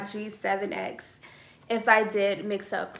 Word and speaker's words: G7X: been saying it wrong i think i've been saying gx7 but um hopefully you guys know i mean canon powershot g7x if i did mix